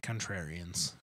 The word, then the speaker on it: contrarian: We like contrarians. I'm a contrarian, even though I say it with like an extra syllable.